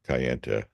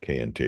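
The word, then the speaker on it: Kayenta: town of K uh some people call it Cay but I'll call it cayente because that's the traditional pronunciation if we get a vintage map uh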